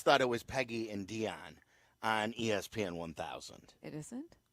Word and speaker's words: Dionne: the props to say Dionne. Yeah. And so I always told my mom there should be an accent on the end of it. So everybody knows Dionne and not Dion, like Deion Sanders.